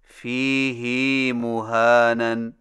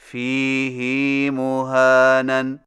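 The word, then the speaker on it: فِيهِ مُهَانًا: Number 9، فیہ مہانن میں فیہ کی ہا کو کچھ کھینچ کر پڑھیں، یعنی اس طرح فیہ مہانن. ہماری قراءت روایت حفص میں اسے فیہ ہدن کی طرح فیہ مہانن پڑھنا صحیح نہیں. صحیح تلفظ کے ساتھ ادا کیجئے. فیہ مہانن فیہ مہانن فیہ مہانن.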